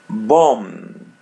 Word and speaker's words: bom: Bomb. Bomb. Bomb. As you see, we pronounce the letter M or am in Portuguese as M in English because because of the interior letter O.